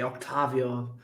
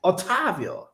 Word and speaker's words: Ottavio: my name is otavin usually they say Octavio it's hard to see somebody who say my name correctly in one way it's Italian everybody should use the hands like ottavio something like this oh yeah so they